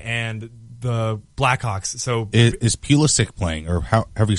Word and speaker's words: Pulisic: So is Pulisic playing, or however you say his name? Pulisic?